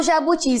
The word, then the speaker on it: jabuti: Quando eu falo jabuti, se eu gritasse o jabuti, como ficaria? Jabuti! Qual foi o mais forte? Qual que eu estiquei mais? O ti.